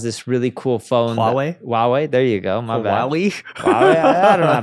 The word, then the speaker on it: Huawei: Hua huwe has this really cool phone Hui Huawei there you go my bad h I don't